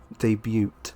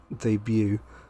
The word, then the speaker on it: debut: many people say uh debuted rather than debut not related to anything it's just the first thing that came to my mind debut debut there's no the t is silent it's a horrible uh